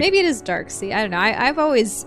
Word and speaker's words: Darkseid: Darkseid had a son. I thought his name was Darkseid. Oh. It's S-E-I-D.